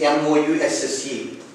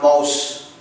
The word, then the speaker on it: mousse: Coming to the eighth one, a creamy dessert, which the spelling is M-O-U-S-S-E. It's not mouse. It's mousse. Like example, a chocolate mousse or something like that. It's not mouse. It is mousse.